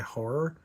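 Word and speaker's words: HO99O9: It actually looks like nines, but I think that's how they pronounce it. H9. It's HO9909, but I think they go by horror.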